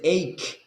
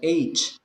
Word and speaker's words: ache: Y el dolor se dice ache, no age. Entonces nunca va a poder decir backache. Nunca va a poder decir headache, ni stomachache. ¿Sí? Entonces la pronunciación es ache, ache.